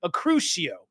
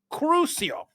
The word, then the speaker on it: Crucio: out dude everybody was freaking out was awesome acuo acuo yeah Kitty coming in correcting thank you kitty crucio that's the spell that he casted so this Glazer the Glazer